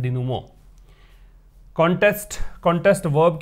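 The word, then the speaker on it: denouement: इसका प्रोनाउंसिएशन है डिनुमो। याद रखिएगा, डेनुमेंट नहीं पढ़ना है, डेनुमो।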